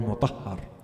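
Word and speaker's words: Habib ibn Mazahir: There are versions to his name that are a little different from the popular version. Habib is accepted, but some say his name is Habib ibn Mudahir or Mutahhar. In any case, we'll use the popular way of saying his name, Habib ibn Mudahir.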